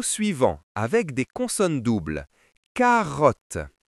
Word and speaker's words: carotte: Carotte. Ici, les deux te se prononcent comme un seul te.